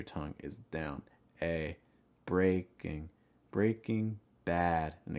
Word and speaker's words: Breaking Bad: is down a breaking breaking bad and again that ass sound stress bad breaking bad breaking bad similar to